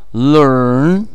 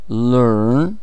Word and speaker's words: learn: Learn. Learn. Похоже на русское «ё».